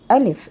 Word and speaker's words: ال: Alif and lam as a group, and which we pronounce them al.